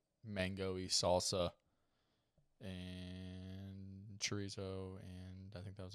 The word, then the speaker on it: chorizo: The double R almost sounds like a D.